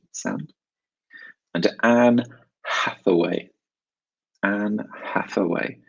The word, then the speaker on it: Hathaway: and Anne Hathaway and Hathaway don't forget the H at the beginning of her name from sound and the th in the middle and Hathaway and Hathaway final question